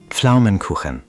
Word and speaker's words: Pflaumenkuchen: Pflaumenkuchen. शुरुआत में आने वाला pf अजीब है। यह है। अंग्रेजी में यह ध्वनि नहीं होती। आप p और f को लगभग एक साथ बोलते हैं।